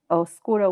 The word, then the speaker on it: oscuro: yes and so the word dark in spanish is oscuro we say it oh skuro without a b but a lot of